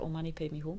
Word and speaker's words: Om Mani Padme Hum: And here's someone asked for Om Mani Padme Hum. That's how you say it. That's how you spell it.